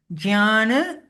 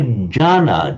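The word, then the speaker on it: jñāna: she said in India, in different states, they say jnana and jnana, and they accept both as correct. Oh, so some would say jhana, just not pronouncing the element at all.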